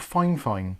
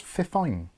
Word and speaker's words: Fifine: want to pronounce it someone said they're called fine fine but there's no way on God's green earth that says fine fine it says fifine or fifine anyway moving on so